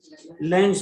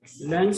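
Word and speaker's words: Lenz: इसका एक्सप्लेनेशन दूसरे साइंटिस्ट ने दिया, लेंज लॉ। लेंस सुनाओ? आँख का लेंस। लेंस अच्छा ये लेंस नहीं, लेंज लॉ। टी साइलेंट, साइलेंट का बड़ा झंझट होता है अंग्रेजों में।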